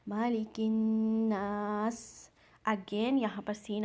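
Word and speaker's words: مَلِكِ النَّاسِ: Next आयत मालिकिन्नास, यहाँ पर फिर से हमज़तुल वसल मीन्स साइलेंट अलिफ, ये अलिफ नहीं पढ़ा जाएगा, काफ को आपने नून में मिलाना है। मालिकिन गुन्ना के साथ, नून मुशद्दद मीन्स यहाँ पर आपने गुन्ना करना है, मालिकिन्नास।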